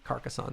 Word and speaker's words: Carcassonne: Carcassonne, that's how you pronounce that.